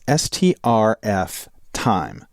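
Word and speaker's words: strftime: and the second is stf time now you can either pronounce that string for time string format time but the idea is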